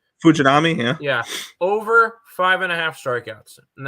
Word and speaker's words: Fujinami: I almost pulled the trigger on Fujami. How do you pronounce his name? Fujinami, yeah.